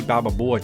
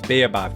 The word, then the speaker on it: baobab: For the third choice, we got the option of the savanna, which added the ostrich, termites, and the bababoa tree. Baobab tree, so weird pronunciation.